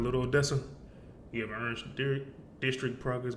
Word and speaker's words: Little Odessa: Little Odessa. That's how you pronounce it, Little Odessa.